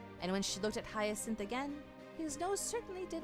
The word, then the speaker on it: Hyacinth: I've seen the word many times, but I've never heard it pronounced. Okay, Hyacinth is correct.